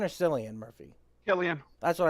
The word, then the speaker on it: Cillian: Murphy Javi how do you say his name Killian or Cillian Murphy yeah Liam that's what I thought Killian Murphy uh we had it we had a